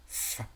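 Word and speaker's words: ف: মাখরাজটা নিচের ঠোঁটের পেট সামনের উপরের দুই দাঁতের আগার সঙ্গে লাগিয়ে লাগে, ফা, উচ্চারিত হয়।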